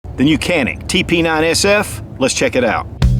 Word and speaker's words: Canik: quality and the price some people pronounce it janic but that's how they pronounce it in Turkey but here in the US canic is how we pronounce